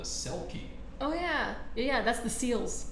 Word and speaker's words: Selkie: Not only is it a shapeshifter, it is also a water creature, and it even rhymes with Kelpie. It's called a Selkie.